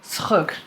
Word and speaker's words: Schug: Schug. It's written here for you to phonetically get it.